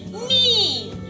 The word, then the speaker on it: knee: K is silent in the word knee.